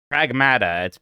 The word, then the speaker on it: Pragmata: Pragmata. I know it's pronounced Pragmata now that I play the game.